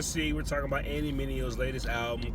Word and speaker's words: Mineo: Tryna say my name, it's Mineo. Say it with me, Mineo.